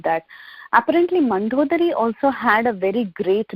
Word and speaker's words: Mandodari: Mandodari?